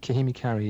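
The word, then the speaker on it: Kahimi Karie: Kahimi Kari, yeah.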